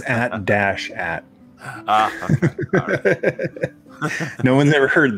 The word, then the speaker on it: AT-AT: That's not how you pronounce it. It's AT-AT.